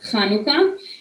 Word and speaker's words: Hanukkah: rosh hashanah which is the jewish new year hanukkah and passover hanukkah which i'm sure you've heard of it's pronounced chanukah is um a nutshell when there was a